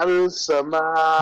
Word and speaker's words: السماء: Look, after lam we have shadda. So this means lam is omitted, lam is silent. Lam and alif Okay, does not yes, has that's any right. vowel. نعم. Okay. من السماء. Alif is also silent.